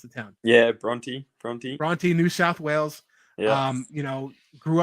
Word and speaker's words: Bronte: So Brooklyn, like we mentioned, originally from Australia, the town Bronte, how do you pronounce the town? Yeah, Bronte, New South Wales.